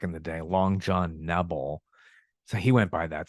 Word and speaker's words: Nebel: the day, Long John Nebel. So he went by that. So thanks for using the incorrect pronunciation, dude. And the long E is the right one.